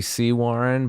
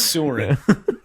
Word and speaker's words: Sewaren: it was technically Sea Warren, but if you look at it, it says Sewerin. There's it's like it's SEWAREN, right? It says, yeah, right. We pronounce the C Warren correctly, but it's Sewerin.